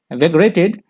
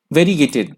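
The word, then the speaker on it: variegated: अगला शब्द है वेगरेटेड. वेगरेटेड. वेगरेटेड यहाँ पे एडजेक्टिव की तरह यूज हुआ है. माफ कीजिएगा, वेरीगेटेड, माफ कीजिए, वेरीगेटेड. ये थोड़ा प्रोनाउंसिएशन में प्रॉब्लम हो गया. वेरीगेटेड, ये है वेरीगेटेड.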